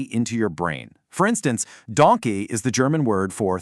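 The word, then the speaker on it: danke: If you just remember the animal donkey, but without the long e at the end making it Donke, you will literally never forget how to say thank you in German.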